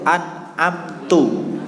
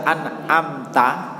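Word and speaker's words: أنعمت: Jadi suatu contoh misalnya lafal Al-Fatihah itu an'amtu. Kalimatnya an'amtu. Seandainya dibaca an'amta atau an'amti itu batal sholatnya. Membacanya haram juga sholatnya batal karena maknanya menjadi berubah.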